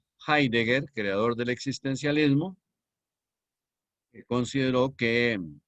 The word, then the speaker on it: Heidegger: dijo el gran filósofo que desarrolló el existencialismo heidegger alemán se escribe con h heidegger y doble g h d ser un doble g heidegger creador del existencialismo considero que el hombre es